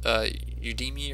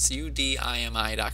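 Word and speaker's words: Udemy: now solo ads I use a site called UD me or you Demi and Mike White tryouts pronounced su di mi com and you know what I really like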